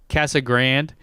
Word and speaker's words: Casa Grande: which being from Arizona I say Casa Casa Grande is how you say it but speaking Spanish that just pains me to say that anyways so they they